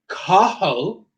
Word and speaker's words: Cathal: Cathal, because a TH has just the aspirated H sound, like in hat. So Cathal.